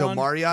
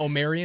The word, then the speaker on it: Omarion: Yeah, so see, I look at it as Omarion. Not Omarion.